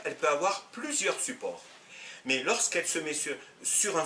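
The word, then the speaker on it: ماء: Par exemple, l'eau en arabe se dit le ma', même si en dialectal, on évite de la prononcer, on dit le ma. Mais en principe, c'est le ma'.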